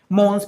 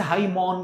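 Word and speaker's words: hymen: भाई पांच चीजें हैं मॉन्स प्यूबिस दूसरा कह रहा है सर लेबिया मेजोरा दो हो गए लेवियामाइनोरा तीन हो गए हाईमोन इसे हाईमोन कहते हैं मैन नहीं कहते हैं स्पेलिंग भले ही ऐसे हो और साथ में कह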